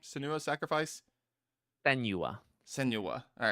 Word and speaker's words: Senua: Senua.